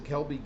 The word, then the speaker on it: Ckelby: any level of college football and that's to Kelby given uh which is spelled CK l b y g i v